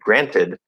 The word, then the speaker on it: granted: ganted, that's wrong, granted, instead of saying granted, they'll say granite, and it's because of how we can pronounce granted, and I'm going to come back to that.